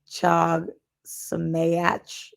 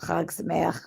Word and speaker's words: Chag Sameach: Chag Sameach, which is spelled like Chag Sameach, but Chag Sameach, which means happy holiday, which is a nice thing to say to Jews during the holidays.